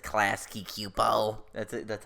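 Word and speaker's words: Klasky Csupo: It's like Klasky Cupo.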